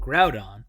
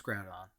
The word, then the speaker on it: Groudon: So Groudon, I heard you pronounce Groudon.